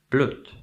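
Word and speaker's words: bloed: it comes to pronunciation this is actually pronounced blute okay Bard bre b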